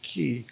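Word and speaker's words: Cay: It looks like K. It's spelled C-A-Y, but everyone pronounces it Key.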